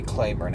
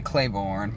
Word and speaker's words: Claiborne: It's funny, and down here you say Claiborne, but if you're in Mississippi, you say Claiborne. You say it, you stress the syllable differently.